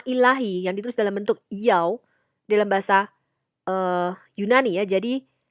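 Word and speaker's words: Ιαω: Ya, itu huruf Ibrani teman-teman. I-A omega. Ya, jadi bacanya Yaw gitu ya.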